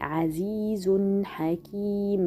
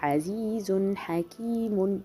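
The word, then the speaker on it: عزيز حكيم: Par exemple, si je continue, Azizun Hakim, mais si j'arrête, bien sûr, on ne peut pas dire Azizun Hakimun.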